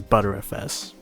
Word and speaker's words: BTRFS: You want to pick Erase Disk, and under it pick BTRFS, which is pronounced as ButterFS.